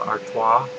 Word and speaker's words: Artois: to crack open my Stella artoa that's how you pronounce it I found out so